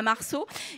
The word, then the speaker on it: Marcaud: Sophie Marceau, Sandra Marceau, ça s'écrit MARCAUD, donc ce n'est pas pareil, donc Sandra Marceau, et vous nous expliquerez